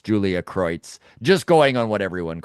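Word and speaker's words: Kreutz: Uh she pronounces her name Julia Croitz or Cruz, which does get confusing. Everyone there on Sportsnet calls her Julia Croitz. And so I get the feeling that that's her actual preference as to how you say her name.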